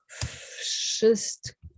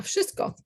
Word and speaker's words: wszystko: sh after a V, you can't say wszystko because kind of your mouth doesn't work that way. So the V sound turns into an F sound. So it's actually, if you wrote it down phonetically, you would have something like wszystko.